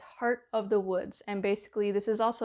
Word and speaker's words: Heart of the Woods: So, I mispronounced this game when I did my last video. It's Heart of the Woods.